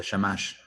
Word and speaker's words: shamash: put it down here the central chamach is that correct the way to pronounce it rabbi yes yes the shamash are you i think